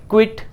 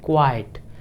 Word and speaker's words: quite: कैसे प्रोनाउंस करते होंगे क्विट लेकिन वह क्विट है नहीं उसको हम कहते हैं क्वाइट कीप क्वाइट जैसे बोलते हैं ना उस तरीके से देखिए मैंने यहां पर